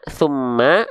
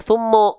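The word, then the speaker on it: ثُمَّ: Dibacanya ma, summa atau summo. Kok summo sih? Nah, gitu ya. Tipis. Karena apa? Karena huruf mim ketika berharokat baris atas dibacanya ma, bukan mo.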